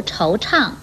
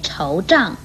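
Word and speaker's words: 惆怅: 来的是，唱与昌都不可以念成胀或长的音，如惆怅不可以念惆胀或惆长，为虎作伥不可以念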